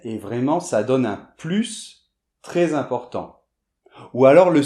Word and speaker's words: plus: Par exemple, bien, tu as plus de chocolats ou de chips que moi. - Ok - D'accord ? Donc là on va prononcer le S.